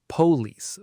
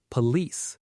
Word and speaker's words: police: A lot of learners put the stress on the first part, police, but native speakers stress the second part, police.